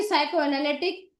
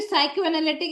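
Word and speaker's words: psychoanalytic: फिर आती है आपकी साइको एनालिटिक। इसमें पी साइलेंट रहता है बेटा।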